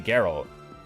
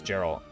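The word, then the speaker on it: Jeralt: Oh, it's actually Geralt. Wait, seriously, it's Geralt? This whole time I thought it was Gerald.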